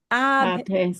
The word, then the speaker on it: adhesivas: And this little H won't be pronounced, right? Because we don't pronounce H unless it's a CH together. Okay. Ch. And that's not a ch. Okay. Adhesivas. So that H has to be written, but you don't hear it.